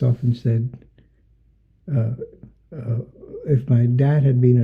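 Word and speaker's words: Saïd: And I should say that you're presently an associate fellow at Oxford University's, is it pronounced Said or Said Business School? Said, the Said Business.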